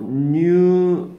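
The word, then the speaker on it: knew: 뜻이 달라요 얘가 자 no new new라고 바로 k가 발음이 안 나니까 그렇죠 new가 되겠죠 얘는 뭐야 이건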